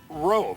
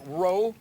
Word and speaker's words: Rowe: Brian Rowe. Did I get that correct? Rowe? Yes, sir. It doesn't, the way it's spelt, I wouldn't pronounce it that way.